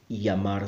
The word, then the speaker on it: llamar: speakers around the world will pronounce the Double L as a year sound for example llamar say may llamo my Orca